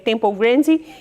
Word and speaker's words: Temple Grandin: curioso para saber se se escreve Temple Grandin com ele no final se lê tempo grande e é o filme